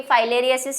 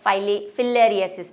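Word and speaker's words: filariasis: हिंदी में तो भाई फाइलेरियासिस ही कहते हैं, लेकिन इंग्लिश वाले जो हैं इसको फाइलेरियासिस भी प्रोनाउंस करते हैं और फिलेरियासिस भी करते हैं, ठीक है।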